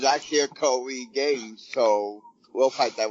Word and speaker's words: Koi: Koi, kind of like koi, the koi fish.